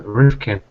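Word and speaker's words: Rifkind: for Access scandal um I was made aware that I pronounced her name wrong um so do apologize for that it's uh Malcolm roofkin Jack straw reveals he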